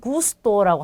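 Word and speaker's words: gusto: 자, 이 단어는 고르도라고 읽겠죠. 그 다음에 이 단어는 구스토라고 합니다.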